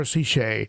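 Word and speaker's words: Sicce: see it shea she jay wilson taught me how to say it he said she she sells seashells by the seashore ceche so it's an italian name but uh it's a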